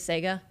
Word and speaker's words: Sega: a conversation about this is it Sega or Sega and I think it is Sega it is SE because that's the little Sega but I just got so used to pronouncing it the wrong way so anyway uh if